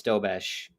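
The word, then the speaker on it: Dobeš: Robertson with a great chance, and Dobsh saved it. Someone's got to give me the correct pronunciation on that. Is it Dobesh? I believe it's Dobesh. That's what the announcer said anyway.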